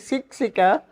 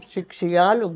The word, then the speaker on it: Siksialuk: You know, our name is Siksika. Siksialuk, their grandfather, Siksialuk. That Yeah. was their real name. Yeah, real name, Siksialuk, not Siksik.